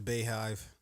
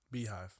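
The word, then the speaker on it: Beyhive: Beehive, nigga. Bayhive. It's spelled B-E-Y hive. Still the Beehive. Okay. All right. Is it not the Bay? Like, is that? No, that's how you say Bay, right? No, it's Beehive.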